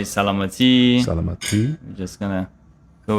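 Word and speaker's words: سلامتی: We say salamati. Salamati. Salamati. There we go. I'm gonna add that to my list. There Okay, you go. beautiful. You can say cheers. You can say salute. You can say salamati.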